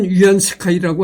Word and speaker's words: 위안스카이: 여기에 보면 그 위안스카이라는 인물이 나옵니다. 음.이 이 위안스카이가 누구 뭐냐면은 어 중국 발음으로 위안 스카이라고 하는데 한문 발음으로는 우리나라 한문 발음으로는 그 뭐라고 하냐면은 지금 내가 원세계입니다.